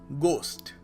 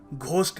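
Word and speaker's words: ghost: जगह स लगाना calcium next word is गोस्ट गोस्ट यहां पर एच साइलेंट है सो हम लोग घोस्ट नहीं कहेंगे या कुछ और नहीं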